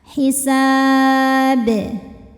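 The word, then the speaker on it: حساب: Hisab. Huruf ba-nya dihukumi dengan qalqalah kubro karena ada huruf qalqalah yang dimatikan atau sukunnya karena berhenti ya. Dibacanya dipantulkan dengan pantulan yang besar.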